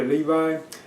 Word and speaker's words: Levi: But in Shazam, I thought Zachary Levi, that's how you pronounce his last name.